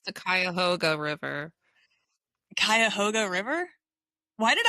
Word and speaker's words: Cuyahoga: It's the Cuyahoga River.